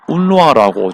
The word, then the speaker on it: UNRWA: 그 이제 여기 왼쪽 위에 UNRWA 보이죠? 운루아라고 좀 발음을 하는데, 이게 이제 UN 팔레스타인 난민기구라 보시면 됩니다.